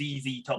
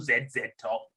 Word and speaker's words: ZZ Top: knew i do know it's pronounced as easy top not zed said top can you imagine